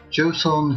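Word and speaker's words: Joseon: bottom we have the uh where is it joson kingdom that's the correct pronunciation uh there in korea uh movement alliance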